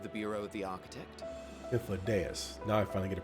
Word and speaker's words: Hythlodaeus: Without further ado then, greetings, I am Hythlodaeus, Chief of the Bureau of the Architect. Hythlodaeus. Now I finally get a pronunciation.